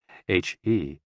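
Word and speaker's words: 呵: HE, pronounced like her, with a yawn, which is associated with the heart.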